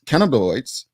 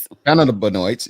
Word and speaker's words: cannabinoids: you didn't implement medical marijuana you added synthetics cannabiloids i i pronounced that right can cannon cannabinoids yeah whatever right i just say cbd you